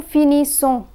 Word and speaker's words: finissons: The letter S in ONS is silent. Nous finissons. EZ is pronounced as A.